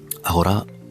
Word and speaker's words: agora: Agora, you pronounce as agora in English.